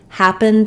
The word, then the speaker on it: happened: the stress syllable of happened is the first syllable so I've written that in capital letters here in uppercase so that you can see what happened that the ha is going to be long have the clear vowel and the rest will